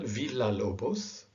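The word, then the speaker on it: Villa-Lobos: is still an l double l is pronounced like el villalobos okay i mentioned that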